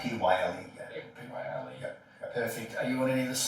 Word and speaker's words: Pyle: Pyle, spelled with a Y. Pyle.